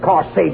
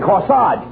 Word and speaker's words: corsage: no i'm not of course sage you mean no no no you mean corsage age is pronounced odd as in corsage and garage where did you get